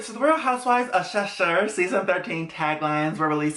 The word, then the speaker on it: Cheshire: this a shirt sure sasher cheshire that's how you say it shusher sure whatever i'm trying people i'm trying um but this is a cast photo shoot for season 13.